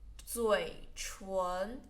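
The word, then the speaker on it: 嘴唇: Lips, 嘴唇, 唇 second tone, 嘴唇, 嘴唇, 嘴唇.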